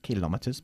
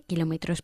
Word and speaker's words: kilómetros: in Spain is 120 kilometers per hour. ¿Cuál es el límite de velocidad en España? 120 kilómetros por hora. Good, y nosotros decimos siempre kilómetros y no kilometers, ¿ok? Kilómetros, enfatizando la segunda sílaba, ¿vale?